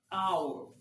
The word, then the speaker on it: hour: this these and days I said and hour hour now I didn't say how because the AG here is tentatively and and literally silent of course we have